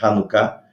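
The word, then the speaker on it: Hanukkah: se escreve com h às vezes se escreve com ch por causa da pronúncia do hebraico é hanuká eh vejam aqui a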